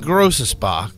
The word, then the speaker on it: Großaspach: Mercedes AMG stands for pronounced Mercedes offre melshire and grossa Spa AMG was founded in